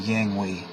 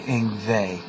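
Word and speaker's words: Yngwie: he was Swedish and it was spelled uh y n g wi IE and everyone thought it was uh Yang we and and we had to learn the pronunciation later on that that it was actually inve he had a more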